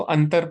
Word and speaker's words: अंतर: लेकिन पहले में हम उसको क्या पढ़ रहे हैं? अंबर पढ़ रहे हैं। और दूसरे में हम इसको अंतर पढ़ रहे हैं।